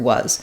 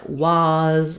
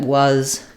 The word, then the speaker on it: was: You might pronounce it more like was or was, something where that letter A is going to negatively affect your pronunciation. It might be news to you that was and buzz rhyme, that they have the same sounds in them.